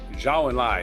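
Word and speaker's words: Zhou Enlai: Uh 1898 Zu and Li premier Xiao and Lai that's how you pronounce his name.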